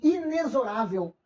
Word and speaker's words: inexorável: não muda algo permanente inexorável Essa palavra não tem um x com som de KS kse não é pelo maluco beleza é um